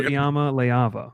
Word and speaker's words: Iamaleava: Nico Iamaleava. Is that's the pronunciation that I've found like 15 different times.